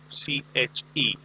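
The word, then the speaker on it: cliché: Please mark the pronunciation of the word CLICHE, and then there is an accent on top of E.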